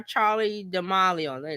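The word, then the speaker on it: Charli D'Amelio: James Mr Beast Donaldson and Tik Tok star Charlie dealo that's how you say her name um So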